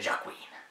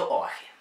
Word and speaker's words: Joaquin: Joaquin Phoenix, znáte ho jako Jokera. Překvapilo mě, že se to nečte Joaquin. Je to Joaquin.